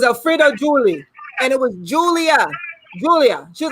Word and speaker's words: Julia: julie and it was julia julia she was like julia not julie because it smelled like julie right but it was julia well it had like